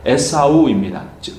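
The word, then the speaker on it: עשו: 그리고 이 털이라는 단어가 히브리어로 에사우입니다. 우리나라 발음으로 하면 에서입니다.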